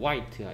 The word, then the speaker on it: white: 어, 얘는 발음은 white야. H가 소리 안 나.